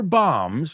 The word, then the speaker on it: bombs: He's called upon to try to recover nuclear bombs. Remember that B is silent.